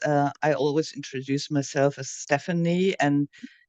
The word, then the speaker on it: Stephanie: it's pronounced Stephanie, and sometimes people get quite defensive and say,